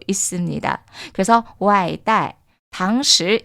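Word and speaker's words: 外带: 자, 포장은요, 외부로 들고 가다라고 해서 外带, 外带, 外带, 外带 이라고 읽어주시면 되고요.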